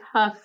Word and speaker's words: Hough: Huff, Ohio, spelled Hough. We think we're saying it right. We looked it up. We Googled it. We think Huff is the way to say it.